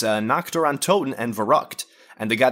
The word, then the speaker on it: Nacht der Untoten: Nacht der Untoten. Oh, okay, so you're just trying to pronounce it the right way.